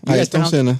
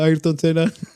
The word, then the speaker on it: Ayrton Senna: Yeah, Ayrton Senna.